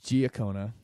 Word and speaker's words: Giacona: back I'm sitting here with Susan and it's G okona because I always look at her name and